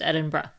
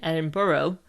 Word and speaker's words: Edinburgh: The correct way of saying the capital city of Scotland is Edinburgh. If you say it like an American, Edinburgh, you will stand out really easily, and you definitely are a tourist.